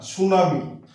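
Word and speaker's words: tsunami: সামনে দেখি আমরা হ্যাঁ সুনামি কি দিয়ে শুরু হচ্ছে সুনামি তারপর যার রাশিয়া সম্রাটকে যার বলা হয় যার তাহলে এল এবং এস এর সামনে হ্যাঁ টি উচ্চারিত হচ্ছে না তাছাড়াও যেগুলো 10 এন্ডিং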